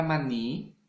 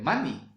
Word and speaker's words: maní: Y en cambio, la palabra maní, ¿no? Maní, ¿no? No va a ser mani, ¿cierto? La palabra maní. La palabra maní termina, pues, ¿no? Tiene la mayor fuerza de voz en la última sílaba, ¿verdad?